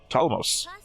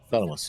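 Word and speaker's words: Ptolemaios: Talamos. Surely not a name I've mispronounced many times in the past. Talamos, yeah. Like Ptolemy. Yeah, just I've never said the P.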